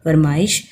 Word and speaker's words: فرمائش: لکھیں۔ اب یہ دیکھیں، فرمائش ہے، فے زبر، رے، میم زبر، الف، حمزہ کے نیچے زیر ہے اور شین ساکن ہوگی۔ فرمائش۔ دوپہر، دال کے اوپر